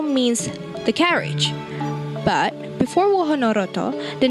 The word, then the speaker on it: Wahanarata: In Javanese, they pronounce it Wahanarata. Wahana means a place and Roto means the carriage. But before Wahanarata, the name was Kereta Kraton.